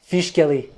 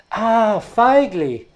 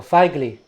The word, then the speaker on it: Fijkeli: Feigli. F-I-J-K-E-L-I, because Feigli Prizor is a Dutch Sinto. So in Dutch language, I-J is pronounced I, so Feigli.